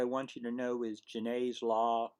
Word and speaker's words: Janet: Um, One of the things I want you to know is Genet's law. It's spelled Janet. It's French. It's pronounced Genet.